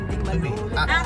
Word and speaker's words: Tuy: Pero yan po ay Tuwi, Batangas. Tuwi. Ang E, ang AY. Meron yun, Batanggenyo lang ang pronounce, Tuwi. pero Toy yan. Tuwi. Pero gawa ng Batangas.